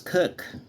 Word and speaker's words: kirk: word pronounced kirch k-i-r-c-h-e in scotland it was cook k-i-r-k the following entries are